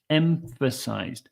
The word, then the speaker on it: emphasized: this word emphasized so we have two sounds that are very close together we have M with your lips closed M and then we have F this F sound so pH is that F sound my advice here is to start with an m and then try to blend into the okay so don't go